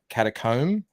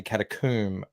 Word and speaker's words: catacomb: out recently chant that americans say uh catacomb and then like a uh a hair comb yeah and british and australians say catacomb as in like a tomb why i mean look